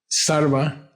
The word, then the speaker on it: Sarva: Sarva.